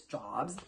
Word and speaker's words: Jobs: Isaacson, in his biography of Steve Jobs, and I had to research how to pronounce that name, it's Jobs, describes how after being ousted from Apple, Jobs spent years developing Next and Pixar.